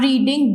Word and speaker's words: read: Next, children are रीडिंग books in the library. Children are रीडिंग books, तो books is R या M, R आएगा। Books are being रेड, बोलने में रेड है, spelling रीड READ ही होती है, तो बुक्स आर